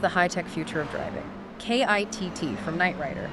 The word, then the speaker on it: KITT: KITT from Knight Rider. That's KITT, which we'll pronounce KIT, by the way.